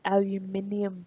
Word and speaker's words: aluminium: It's aluminium, people.